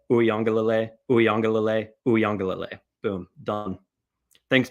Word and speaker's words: Uiagalelei: Uiagalelei, Uiagalelei, Uiagalelei, Uiagalelei, Uiagalelei.